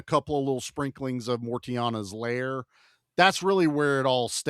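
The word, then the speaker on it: Mortianna: So Mortiana, I think is something how like you that. pronounce. Yeah, I think there's a T in it.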